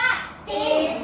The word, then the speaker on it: จริง: ไม่ นะ คะ เรา ออก เสียง แค่ ว่า จริง นะ คะ มัน เ เรียก ว่า ค ควบ